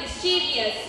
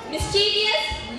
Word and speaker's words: mischievous: So first here we have mischievous. Mischievous, no, it's completely wrong. It has to be mischievous. In English, when the word ends with I-O-U-S or O-U-S, it has to be pronounced as us, like mischievous, gracious, and precious.